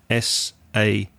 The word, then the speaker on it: sachet: comes in a sachet s-a-c-h-e-t there's there is a t at the end but we don't tend to pronounce it so it's sachet which